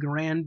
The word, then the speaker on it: Garand: I know there's been a push in recent years to pronounce it Garand, or however the inventor's name was pronounced. The man may have been Garand, but the weapon was a Garand.